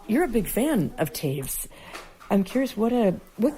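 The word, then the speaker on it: Toews: So yeah, definitely check out Miriam Taves and it's spelled T O E WS.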